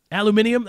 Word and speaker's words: aluminium: Aluminium.